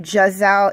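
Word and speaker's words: Gazelle: I also liked Gisele I know it spelled Gaza but they actually pronounced it Jessa in the movie so she was another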